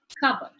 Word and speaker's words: cupboard: If you notice in the transcription, the p sound is missing. This is something that you need to make note of when the sound is deleted off the word. So P is silent, cupboard.